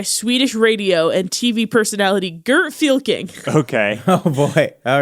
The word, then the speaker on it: Fylking: was guarded by Swedish radio and TV personality Gert Fylking. Okay. Oh, boy. All right. Do All right, you want to Gert. say that name again for me and spell it out? Gert, G-E-R-T, Gert Gert. Fylking, Fylking, Gert Fylking.